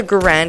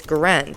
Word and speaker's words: Garand: Although the Garand is frequently pronounced Garand, the preferred pronunciation is Garand to rhyme with errand.